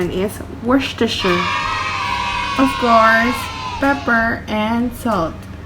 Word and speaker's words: Worcestershire: snap where sister shire but in reality and pronunciation is worcestershire of course pepper and salt but i know